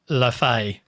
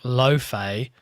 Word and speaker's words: Laufey: According to British English, Laufey is the She's not English. correct way to pronounce it. Nope. With some variations like Loafey or Laufey in America.